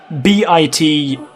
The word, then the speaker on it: bitumen: So it's spelled B-I-T-U-M-E-N, bitumen, and it's basically, it's almost like tarmac that you put on roofs.